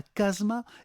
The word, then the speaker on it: casma: Et donc, il y a le TE de la fin qui est tombé, qui a disparu, et il reste quasiment tout le terme tel qu'il est prononcé d'ailleurs, et au lieu de dire casemate à la française, eh bien, on dira casma, et c'est le terme